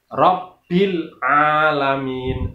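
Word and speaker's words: رَبِّ الْعَالَمِين: Yang benar adalah alhamdulillahi Rabbil alamin. Rabbi, kata-kata Rabbi itu ada tasdidnya, maka cara membacanya juga sama, yaitu ditekan. Jadi Rabbil alamin.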